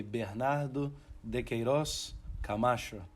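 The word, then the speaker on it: Bernardo de Queiroz Camacho: Uh, so Bernardo in Portuguese accent will be Bernardo Deeros Kamasho.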